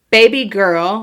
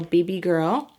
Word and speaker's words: BBGRL: the next one is baby girl but it's spelled bbgrl so BB girl and this one is